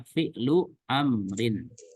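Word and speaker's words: فعل أمر: Jadi fi'il amr adalah fi'lu amrin ya, fi'lu amrin, sehingga ketika dihilangkan harokatnya kita pun bisa membaca dengan jelas bacaannya fi'lu amrin.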